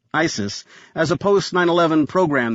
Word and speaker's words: ICIS: Jonathan recognized ICIS, pronounced ISIS, as a post 911 program that documented ongoing